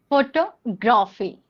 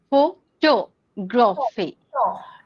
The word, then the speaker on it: photography: need to stress on this is what is pronunciation. Yeah. For example photography. Photography. Photography. Okay. Shall I say? Yeah. Photography. So it is not photo. It is photo. Photography.